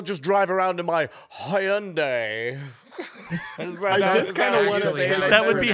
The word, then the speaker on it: Hyundai: Oh, I guess I'll just drive around in my Hyundai.